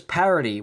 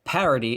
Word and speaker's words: parody: He pronounces parody, which is a dactyl word, like an anapest word. Instead of parody, it's parody.